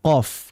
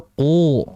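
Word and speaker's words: ق: ee qof gitu ya qof itu kan dibaca qo seperti itu tidak dibaca qu nah ini Jadi bedakan antara pengucapan qo dengan qu Nah kalau qu itu memberatkan diri dan itu berlebihan dari segi suara sehingga dalam membacanya harus qo kemudian kalau huruf qf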